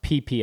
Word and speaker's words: Phi Phi: The way they pronounce their P's is weird because Phi Phi Island, when you're there, it's pronounced PP Island.